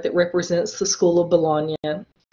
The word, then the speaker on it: Bologna: This is an example a piece of art that represents the school of Bologna, which is spelled like baloney. Okay, don't say school of baloney.